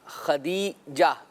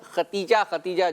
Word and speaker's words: خدیجہ: خدیجہ، یہ لفظ دال ہے. ہمارے یہاں عام طور پر ختیجہ جو ہے وہ بولتے ہیں. تلفظ اصل میں جو ہے وہ یہی ہے.